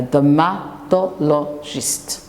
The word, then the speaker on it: dermatologist: A dermatologist, 5 syllables word.